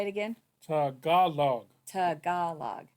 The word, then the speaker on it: Tagalog: Tagalog and English nice say that Tagalog Tagalog T the center syllable is emphasized can I hear him